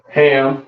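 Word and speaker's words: חם: Ham, you understand? Which means hot, right? Hot. Of course, very hot in goddamn Africa. You understand? Uh, pronounced come in the Hebrew.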